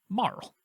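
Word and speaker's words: Marle: name as that and i was wondering how to pronounce that and that's how you pronounce it marl um but she makes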